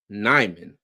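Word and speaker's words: Nijman: signing Panthers got Yash nyman J yeah hope that Jay is silent hope I a messing it up you said it right said it right all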